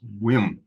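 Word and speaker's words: Ulm: Walter grew up in the town of it's pronounced whim or it's spelled u l m a town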